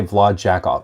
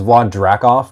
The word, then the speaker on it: Vlad Drakov: was today um did you just slip up and say vlad jakob yes and that was actually um on purpose his name is vlad drakov but as a gag during the video i kept mispronouncing his name luca once again thank